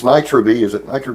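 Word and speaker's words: Nitro-V: inch and then bu it is this it's Nitro B is it Nitro b or Nitro 5 the pronunciation I asked you that and you told me it was Nitro V that's what we'll go with I'm sure I'm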